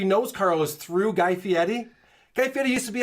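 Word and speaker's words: Fieri: Yeah, I like to say Guy Fiieri because I see an R in there. What? It's Fiieti.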